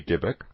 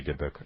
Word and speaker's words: Dybbuk: The book is called The Holy Dybbuk. The Holy Dybbuk, Dybbuk is spelled D-Y-B-B-U-K, and in Jewish mythology, so to